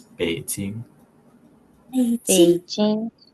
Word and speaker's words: 北京: Let's Over if you guys want to try pronouncing these cities. So first one's Beijing. 北京、 Shanghai 上海、 and Xi'an.